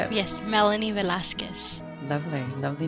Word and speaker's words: Velasquez: i can hear you say it yes melanie velazquez lovely lovely name so i was introduced to